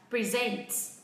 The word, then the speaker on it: present: Vậy khi nó là động từ thì trọng âm sẽ rơi vào âm tiết thứ. Âm tiết thứ. Thứ mấy các bạn? Thứ hai đúng không ạ? Và tôi đọc là present.